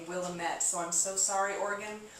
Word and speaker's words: Willamette: three Patricia green sellers 2008 Pinot Noir Reserve Willamette Valley what was the price on this again